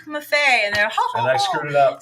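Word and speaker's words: Maffei: say my name and I'd say just think because it was Muffet Cuisine I think it was I said just think of unique Buffet buffet and I screwed it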